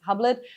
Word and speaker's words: Hublot: One of the very few examples was the Hublot watch. So Hublot, or here mostly pronounced Hublet, was the first one who produced a watch with Osmium already in 2014 and 15, two limited editions.